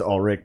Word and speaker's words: Ulrich: son of a bitch ulrich all right i know it's all rick but no one pronounces that that way so when you say